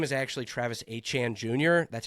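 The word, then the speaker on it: Etienne: It's Travis Achan Jr. in case you didn't know. Travis ETN was what he went by. His name is actually Travis Achan Jr.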